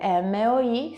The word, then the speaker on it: moi: Oppure nella parola moi, che significa io, me, si scrive MOI, si legge moi.